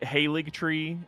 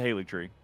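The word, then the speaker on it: Haligtree: nobody says yeah yeah the g is silent the g is silent can't believe it um but uh again everyone's just like oh it's just a haly tree yeah that's silly that's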